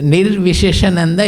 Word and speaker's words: Nirviseshananda: They pronounce in various peculiar way, errors, wrong way. So Nirviseshananda, it has come from Vishesha in Sanskrit means speciality.